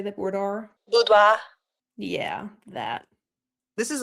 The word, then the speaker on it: boudoir: Boudoir?